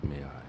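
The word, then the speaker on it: MAI: I named the software May-I, pronounced May-I, which stands for Micro Artificial Intelligence.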